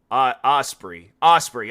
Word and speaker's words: Ospreay: Ospreay. Maybe if I like look that up and then his last name Ospreay pronunciation. There we go. Hold on. Ospreay.